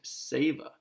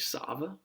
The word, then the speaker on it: Sava: feast day of saint saver maybe it's saint sava saber i think it's a long a we'll say seva but he was a